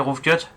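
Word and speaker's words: rough cut: Mais je pense que tout le monde connaît le roof cut, et pas rose cut ou roof cut ou je sais pas quoi. C'est roof cut, en fait GH ça se prononce F en anglais.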